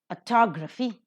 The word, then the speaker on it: autography: Autography, second syllable is accented.